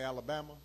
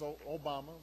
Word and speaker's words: Obama: Although people wouldn't say it right. They'd call me Alabama, or they'd call me Yo Mama. I'd have to explain, no, it's Obama.